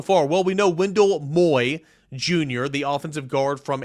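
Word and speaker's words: Moe: Jr it's looked like it's spelled like Mo but it's pronounced Moy like Jackson Moy um so so that's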